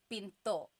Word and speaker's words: pinto: pin that's door Pinto do you hear the gladle stop when I say Pinto Pinto so it's not Pinto it's not pinto beans right it's Pinto it's Pinto Pinto make sure you stop it at the end Pinto okay and then